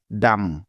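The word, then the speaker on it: dumb: আছে তাই নিয়ম অনুযায়ী এখানে বি এর কোন সাউন্ড হবে না অর্থাৎ বি বর্ণটা এখানে সাইলেন্ট থাকবে কারণ এটাই হলো বি এর সাইলেন্ট থাকার প্রথম নিয়ম সুতরাং ডি ইউ এমবি একত্রে মিলে হয়ে যাবে ডাম ডাম ডাম অর্থ হলো বোকা তবে কোনভাবেই এই শব্দটিকে ডাম পড়া যাবে না পড়লে ভুল হবে তাহলে চলো এই নিয়মের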